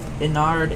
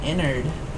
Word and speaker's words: Ennard: Why do people call Ennard Innard when it's spelled Ennard? I don't know. I'll die on that hill.